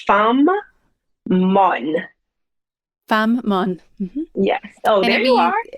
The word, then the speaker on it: Fanm Mon: Fammon.